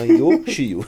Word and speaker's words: Yoshio: Lembra do brinquedo ioiô, pega a primeira sílaba. Quando você quer que alguém fique quieto, você fala Shio, tá? Yoshio. Vamos lá.